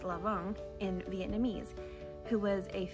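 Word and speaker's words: Lã Vọng: jiangxia also known as lu wang which is pronounced lavon in vietnamese who was a fisherman turned politician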